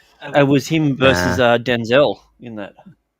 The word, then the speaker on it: Denzel: It was him versus Denzel in that.